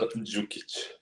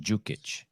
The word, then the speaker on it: Đukić: Lazar Đukić. Lazar Đukić. And Yes. that D is pronounced like I always pronounce it like a J. Đukić.